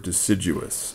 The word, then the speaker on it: deciduous: look here burr oak and hickory trees are deciduous that's how you pronounce that word deciduous okay which means that they lose their leaves